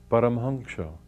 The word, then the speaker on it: Paramhansa: His name was Paramhansa, or the way they pronounce it in Bengal, Paramhansa.